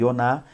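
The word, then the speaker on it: יונה: aqui que é yonar a pronúncia na jonas no português do hebraico e yonah e o significado é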